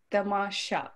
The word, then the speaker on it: Tamasha: Tamasha, is that right? Or is it said a different way? It's Tamasha. It's very, very subtle. Tamasha.